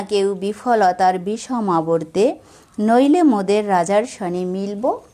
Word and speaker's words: আবর্তে: এই শব্দগুলোর মাঝখানের অক্ষর ওকার সহযোগে উচ্চারিত হবে।